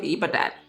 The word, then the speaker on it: Ibadan: Um, in fourth, in fourth place, we have the University of Ibadan.